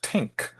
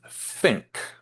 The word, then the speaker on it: think: But something like think, you might even hear it pronounced tink in some places, but it's think, right?